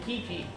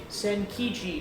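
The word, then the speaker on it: Zenkichi: shop looks like saying Kiki it's in and I will say his name right eventually send keep send kiji there we go check it out oh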